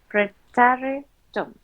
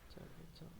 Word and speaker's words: Präteritum: And this is called Präteritum. How do we pronounce it? Say pray, tarry, Präteritum, Präteritum, tum.